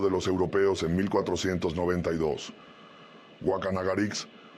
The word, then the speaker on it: Guacanagarix: Wacanagarix, pronunciado Wakanagarish, de acuerdo con la ortografía de la época, fue el que recibió